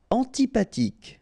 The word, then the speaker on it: antipathique: Antipathique. So remember, this H doesn't exist phonetically, so antipathique.